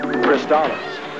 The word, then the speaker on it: Crystalis: Or is that Crystalis? Seriously, how do you pronounce this title? Well, let's check the commercial. Crystalis, new from SNK.